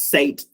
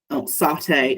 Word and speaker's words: satay: It did pronounce sate, satay as sate, so that's probably something that you'd want to pick up and make sure that you pronounce things correctly.